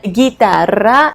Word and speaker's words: guitarra: Letter G can be also followed by a U and I, like in the word guitarra, or U and E, like in the word guerra.